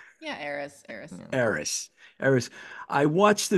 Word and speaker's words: Eris: Yeah, Eris.